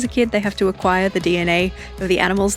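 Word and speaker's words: Aquire: But the font I landed on is called Acquire, but it's spelled without the C. It's just a Q U I R E.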